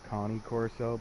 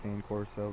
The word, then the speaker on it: Cane Corso: It's pronounced like Connie Corso, but everybody just calls it a Cane Corso because it's easier to pronounce.